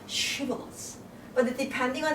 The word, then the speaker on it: shibboleth: And they are supposed to pronounce shibboleth. But depending on how your muscle practice, was used, some people don't know how to pronounce this she, right? So they will say shibboleth.